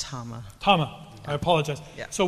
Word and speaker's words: Tama: And it's pronounced Tama.